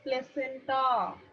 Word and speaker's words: placenta: It is not placentia, it is placenta. Placenta. वो pronunciation नहीं आती. Yes, yes. Placenta, it is very simple.